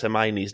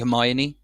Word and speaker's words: Hermione: And also I heard that people didn't know how to pronounce Hermione's name when they read the books, because it's spelled like Hermonge or something.